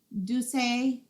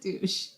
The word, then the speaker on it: Douce: Douce, I never know how to say this. Douce, no, it's not douche.